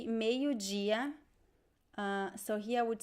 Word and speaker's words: dia: word ah you mean gia gia so this is interesting the d i when you have the letter d in portuguese before the letter i we pronounce it as g g this is the